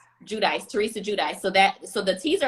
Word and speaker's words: Giudice: Giudice.